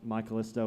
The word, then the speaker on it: My Callisto: pointed that out to me because they were pronouncing it My Call Is To, and I'm like, what are you talking about? And it was like, isn't that y'all's name? And I'm like, no, it's My Callisto.